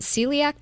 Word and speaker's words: celiac: they were talking about is it celiac disease is that how you pronounce it yes it is um now how can